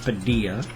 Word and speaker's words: Padilla: name and then Danny Padilla I believe that that would be pronounced Padia the Double L um in many languages comes with the like the why sound that that's why it's